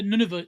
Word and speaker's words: Nunavut: Nunavut. Is that how you pronounce that? Yeah, Nunavut.